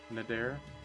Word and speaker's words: Nader: you heard of nader the unstoppable nader not nader they say he's they should put like an accent on the e or something if that's what they want they say is ferocious